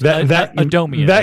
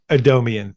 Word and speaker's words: Adomian: James adom Adomian adamian James Adomian is how you pronounce that Adomian that guy is having